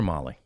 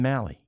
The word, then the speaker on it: Mahle: So, Tyler Molly, although the guys were both radio and TV saying Mali, we got to ask him. Uh I mean, I was I was told it's Molly.